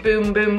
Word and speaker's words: Bum Bum: cream yes it is boom boom cream pie no it's spelled bum bum but it's boom boom okay in Portuguese it is boom boom so that's how we